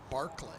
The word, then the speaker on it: Berkeley: senior out of berkeley swinging a berkeley was named after 18th century irish philosopher who pronounced the name barclay barclays bank so cal barclay it morphed a little over the years one and two as